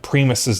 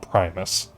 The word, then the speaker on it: Primus: Um and I found out that I've been pronouncing Primis' name wrong. They're actually called Primus.